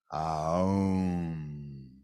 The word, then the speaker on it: Aum: It's actually 3 syllables. A, U, Om. Aum.